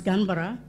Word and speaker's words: Canberra: Canberra is Gunbara.